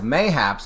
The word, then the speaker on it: mayhaps: Jennifer says mayhaps is pronounced just like perhaps.